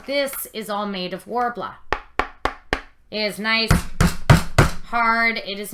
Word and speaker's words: Worbla: I'm a perfectionist like that okay what's uh warbl so it's warbl it's uh a thermoplastic material it is spelled I'll go back to my materials list